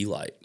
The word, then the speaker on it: Elyte: a little bit yep the way it's spelled I feel like you had to call it the elite right Eli we call it